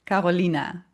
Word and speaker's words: Carolina: lived in the Netherlands for so long, so it's Carolina. This is how we pronounce it here, but for English speakers, it's Carolina, I think.